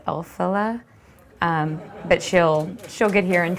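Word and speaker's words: Elphaba: And I believe the name is pronounced Elphila.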